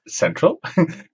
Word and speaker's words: Xentral: It's spelled with an X, but actually it's called Xentral, I've been told.